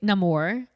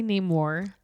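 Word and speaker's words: Namor: also that's interesting because you say Nam more I say Ney more I'm pronouncing it how he pronounced it in the movie I was going to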